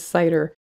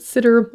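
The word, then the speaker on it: CIDR: classless inter-domain routing which i refer to as cider though some people pronounce it sitter or even cedar but regardless c-i-d-r this is the notation used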